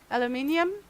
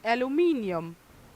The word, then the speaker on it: aluminium: I But well, I guess I just say it like people in UK do. Aluminium. If I had to say it in my native, it it would be aluminum.